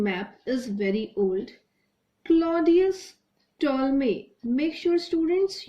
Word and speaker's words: Ptolemy: is very old Claudius Ptolemy makes your students you pronounce this word as told me here P will be Sal he was the famous